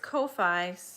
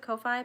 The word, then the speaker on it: Ko-fi: Nope, so is Kofi, or Kofi, I pronounce it Kofi, but I've heard some people pronounce it Kofi, as Kofi, and, so you just